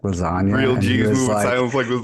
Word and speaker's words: lasagna: move in silence like lasagna real Jesus yeah and he was like because the g is silent dude it took me